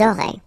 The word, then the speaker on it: auraient: link, but then, look, A-I-E-N-T like that, and you only pronounce E, like we had here. It will be exactly the same pronunciation here. Ils auraient, elles auraient.